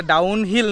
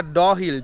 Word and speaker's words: Dow Hill: চলো নামো নামো নামো আমি তখন একটু ভুল প্রোনাউন্সিয়েশন করে ফেলেছিলাম এটা ডাউনহিল নয় এটা ড হিল ডি ও ডব এইচ I double L ডহিল forest museum এখানে ক্যামেরা হয়তো করতে দেয় যায় না।